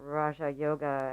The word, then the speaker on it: Raja Yoga: acknowledge the practice of Raj Yoga, or Raja Yoga as we pronounce it in the West, which is the royal yoga, which means that we are actually looking at our psychological state.